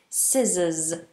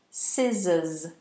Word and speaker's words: scissors: you would use scissors scissors and the pronunciation scissors not scissors some people say scissors it's scissors okay so make sure you get that one right and then if you've